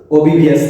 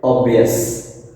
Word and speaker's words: obvious: উচ্চারণটা কি হবে ভিউয়ার্স? ওবিভিয়াস না, উচ্চারণটা হবে অবভিয়াস, অবভিয়াস, OBVIOUS, অবভিয়াস।